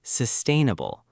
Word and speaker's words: sustainable: And finally, sustainable stress on the second syllable.